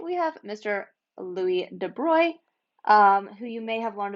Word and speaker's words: de Broglie: this looks like his name looks like it's pronounced de broglie it's french it's de bruy um by the end of the video you